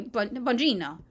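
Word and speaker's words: Bongino: Like you're just it's a soft G. Oh, okay. Okay. Okay. Bonjino uh Okay, whatever.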